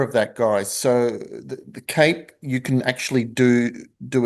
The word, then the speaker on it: CAPE: There's a cape filing window and that's pronounced or spelled C A P.